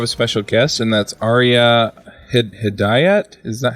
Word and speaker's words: Ariya Hidayat: We also have a special guest, and that's Ariya Hidayat.